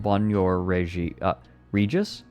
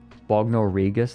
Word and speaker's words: Bognor Regis: Bognor Regis, then? Okay, so yeah, if it's in England, it's probably Bognor Regis.